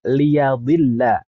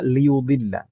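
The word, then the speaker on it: لِيُضِلَّ: jalan Allah eh sebenarnya kata liudilla di sana ada dua qiraah qiraah IBN Katsir itu membacanya dengan liyadilla ynya fathah liad Adapun qirahnya jumhur seperti tertulis di dalam mushaf kita liudilla dan adanya perbedaan qiraah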